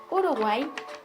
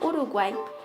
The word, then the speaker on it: Uruguay: Ahora determinamos que es una palabra aguda, al llevar el acento en la última sílaba, pero no lleva tilde, puesto que no termina en vocal N o S.